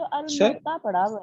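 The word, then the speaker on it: الموطأ: सर हमने तो सर अलमोता पढ़ा हुआ है। क्या पढ़ा हो? अलमोता, नहीं, अलमोता। अलमौता, बिल्कुल, अलमौता भी उसे मवाता और मौता उसी को कहा जाता है।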